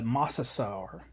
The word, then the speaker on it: Mosasaur: bit of research on how to pronounce the Mosasaur um it's kind of like dinosaur and I guess a